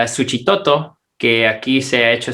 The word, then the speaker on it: Suchitoto: le dice en xochimilco aunque tiene la equis ahí se ha convertido en ese sonido de ese igual que xóchitl en la bolsa de totopos y un ejemplo aquí para el salvador es suchitoto que aquí se ha